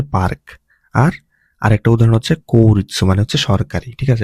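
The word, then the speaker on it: 切: আর আরেকটা উদাহরণ হচ্ছে কৌরিৎসু মানে হচ্ছে সরকারি, ঠিক আছে? এটা ইম্পর্টেন্ট কাঞ্জি। তারপর এটা হচ্ছে কিরি বা কাটার কাঞ্জি, এটার অনের উচ্চারণ হচ্ছে সেতসু বা সাই। হ্যাঁ, আর কুনের আমার উচ্চারণ হচ্ছে কিরু, ঠিক আছে?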